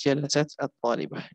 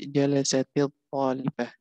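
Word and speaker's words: جلست الطالبة: Maka kalau dibaca itu jadi jalasatil talibah itu karena nggak boleh sukun ketemu dengan sukun, harus dibaca jalasatil talibah, tapi tulisannya tetap seperti ini, tapi cara bacanya jalasatil karena sukun ketemu dengan alif lam. Jadi jalasat talibah bacanya jalasatil talibah.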